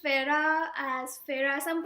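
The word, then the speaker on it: Feyre: I pronounced Farah as Farah. Some pronounced Fere or Fair.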